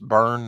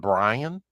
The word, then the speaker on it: Byrne: Pronounced burn, not Brian.